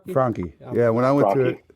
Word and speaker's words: Franchi: Frankie.